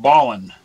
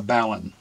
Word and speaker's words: balun: a four-to-one ballon ballon it's an amalgam of two words balanced and unbalanced so I hear people saying it's pronounced ballin well you don't say